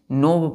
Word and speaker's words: knob: नोब पढ़ेंगे, के यहाँ पर नहीं पढ़ेंगे। क्लियर है? तो जिस प्रकार हम नी पढ़ते हैं यहाँ, उसी प्रकार यहाँ पर NOB का प्रोनाउंसिएशन होगा, नोब।